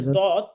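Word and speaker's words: ض: তারপরের হরফটা হচ্ছে দদ সদের উপরে একটি নোক্তা বা ফোটা থাকলে হয়ে যাবে দ। দদ হরফটা কিভাবে উচ্চারণ হবে? দদ যেহবার গোড়া উপরের মাটির দাঁতের গোড়া থেকে মোটাভাবে উচ্চারণ করতে হবে।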